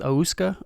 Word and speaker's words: Ouska: On the instrumental tip, I believe it's pronounced Ouska, O-U-S-K-A, dropped an instrumental project called Wishes.